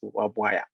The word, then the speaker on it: Wabwire: My name is Wabwire, and it's easy to pronounce it as Wabwaya.